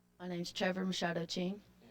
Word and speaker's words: Machado: Wrestling for the championship at 103, he'll wear the red ankle band for Oakland High School, Trevor Machado. My name's Trevor Mashado Ching. Spell it for us.